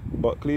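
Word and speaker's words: Bulkeley: Buckley is spelled B-U-L-K-E-L-E-Y.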